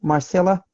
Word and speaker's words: Marcela: Okay, so I know about you, Marcela, but by the way, am I pronouncing correctly, Marcela?